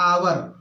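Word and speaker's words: hour: तो तो य पर लगना चाहिए नहीं इसका उच्चारण अगर हम करेंगे तो क्या हो जाएगा आवर तो आवर जो होगा मेरे दोस्तों य अ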